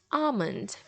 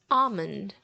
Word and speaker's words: almond: almond almond almond but in many other places in the world you should hear this one as almond almond without the letter L so almond almond but this one